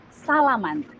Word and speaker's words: salaman: You usually do this, or we should say salaman. So salaman is something that you do with your friends or your colleague. Salaman.